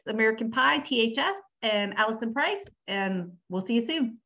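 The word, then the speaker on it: Preiss: name so allison a-l-l-i-s-o-n underscore p-r-e-i-s-s and it's pronounced price which is very confusing well fantastic so we're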